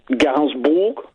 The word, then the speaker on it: Gainsbourg: How do you pronounce her last name? Gainsbourg.